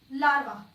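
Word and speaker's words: larvae: के दे रही हूं, लार्वा, और लार्वा हमने जनरली सिंगुलर ही पढ़ा है। लार्वी, लार्वा, लार्वी। तो ये ए ई का साउंड क्या प्रोनाउंस करेगा? ई की साउंड आ जाएगी।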